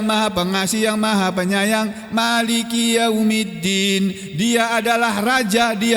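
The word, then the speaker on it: مالك: Kalau dibaca pendek Maliki yaumiddin, itu artinya raja. Malik itu artinya raja. Kalau dibaca panjang Maliki yaumiddin, dan ini bacaan yang masyhur, yang terkenal di seluruh dunia. Bacanya mimnya dibaca panjang.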